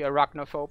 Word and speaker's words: arachnophobe: Actually, I think is it Americans or the English that always pronounce that with a hard K? So it would be arachnophobe, I guess.